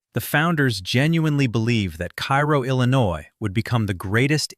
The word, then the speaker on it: Cairo: It is pronounced Cairo, not like the Egyptian capital, though the name was chosen deliberately and with the full weight of 19th century American ambition behind it.